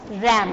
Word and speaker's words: RAM: रैम इसको बोलते हैं रैम, RAM, रैम। रैम बोलेंगे आप, इसको प्रोनाउंस करेंगे रैम।